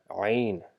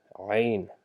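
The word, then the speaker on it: ع: of just saying ain, we just try to pronounce it from the middle of our throat by stressing a little bit in the sound by saying ain, ain.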